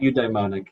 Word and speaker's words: eudaimonic: Asher, the first question is the studies on hedonic versus, I'm not going to be able to pronounce it. Eudaimonic, yeah.